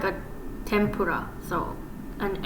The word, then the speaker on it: tempura: this one okay so sometimes it can be pronounced say like an M sounds like m so for example but this is like how you would write tempura but yeah this like end right here it's not tenura it's more like a